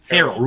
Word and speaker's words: Harrell: So James Earl Jones and Paul, how do you pronounce it? Harrell.